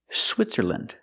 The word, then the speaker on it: Switzerland: Again, with countries, don't say land, say land. Again, Finland, Poland, Switzerland.